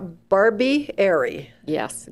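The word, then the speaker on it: Barbieri: name out first it's Barbie Barb bar Barbie AR yes good Italian name let's spell that it's b a r b i e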